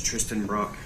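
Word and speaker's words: Trysten Brock: Let's start with your name and then spell it for me. Okay. Yes, sir. My name is Tristan Brock.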